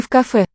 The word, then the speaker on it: в кафе: Мы в кафе. Мы в кафе. Мы, I am in the cafe, not the coffee. So, v preposition in with the following k, which is voiceless. It'll sound as a f.